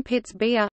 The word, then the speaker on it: Pittsburgh: Forbes was a Scot he probably pronounced the name Pitts beer similar to Edinburgh Pittsburgh was incorporated as